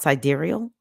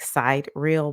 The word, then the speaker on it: sidereal: chart is um called sidereal it looks like side real but it's pronounced sidereal and then the other